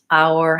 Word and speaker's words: our: how do you pronounce our house our house so our is probably the trickier part of that phrase our house starts with the diphthong ow which is the a vowel and the ow move oh oh oh and